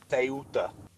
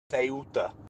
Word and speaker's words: Ceuta: Ceuta. What? Say it again. Ceuta.